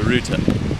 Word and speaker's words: router: the internet or the router does anyone say router no one says router that's how you spell it though but it's known as a routa right rout here we are